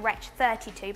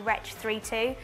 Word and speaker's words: Wretch 32: to say his name a lot of people call him wretch 32 but it's actually retch 3-2 so if you ever